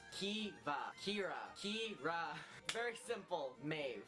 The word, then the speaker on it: Maeve: Maeve. Maeve. That's how you pronounce it. Maeve. It's just a sped up version. Maeve. You just pronounce it like M-A-Y-V. Maeve.